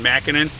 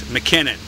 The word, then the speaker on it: McKinnon: man's name wrong before I said John mcenan it's McKinnon this is the 162b